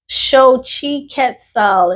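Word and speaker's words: Xochiquetzal: Okay, so it's pronounced show. I thought that was Zo. Oh my gosh, y'all. See, loud and wrong. Shi Ketal is the Aztec Aztec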